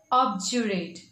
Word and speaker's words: obdurate: discuss is object in british english it is pronounced as objurate with the j sound over here okay so